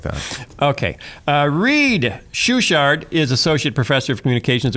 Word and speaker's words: Schuchardt: Schuchardt. Spell it.